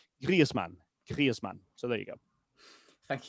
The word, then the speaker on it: Griezmann: Now, it's not Griezmann because first of all, the the mn is not pronounced min anywhere else but in England. So, it's man and then there is that little subtle e sound after the i. So, it's grieman.